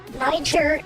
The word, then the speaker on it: Niger: Niger is a real country and that's how you pronounce it.